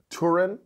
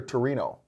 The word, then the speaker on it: Torino: had it in Italy was it Turin Italy or Torino uh well you know it's it gets completely different because that's how that's how Italians pronounce it compared with people in the English language pronounce it or pongyang and pong